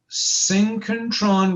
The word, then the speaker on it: synchrotron: energy this is called synchrotron radiation and i'll split it i'll spell it for you syncontron s y n c ch syn s-y-n-c-h-r-o t-r-o-n synchrotron synchentron so syncontron radiation is when